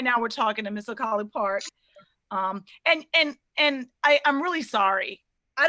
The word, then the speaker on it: Collipark: I was like, COLLIPARK. And you're like, no, it's COLLIPARK, shouted.